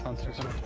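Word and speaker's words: Hunter × Hunter: Apparently, when it has an X like that, you're not supposed to pronounce it. Yeah. Like Hunter X Hunter, just Hunter.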